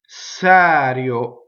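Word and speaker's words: serio: So all the E's and O's that fall on a non-stressed syllable will be closed. Going on. Un, phonetic vowel. Sɛrio, right?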